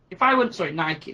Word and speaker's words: Nike: If I were Nike, Nike, it's got two syllables on it, I've got to be professional.